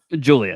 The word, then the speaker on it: Giulia: Obviously, we know a lot about, is it Giulia or Gilia? Julia. How do you say Julia? Oh, just old Julia.